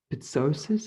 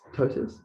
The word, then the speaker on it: ptosis: muscle weakness darker urine something called pithosis i think i don't know how to say it to be honest so maybe it's sources i don't know but it's ptosis yes ptosis ptosis all right ptosis